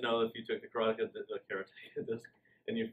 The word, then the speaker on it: Karateka: Most people said Karateka, like I had for 20 years, until Jordan Mechner told me, no, it's Karateka. It just sounds as karate with the K-A after it.